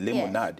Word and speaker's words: limonad: That's really the proper way to say it. Limonad. Yes. That's Creole, right?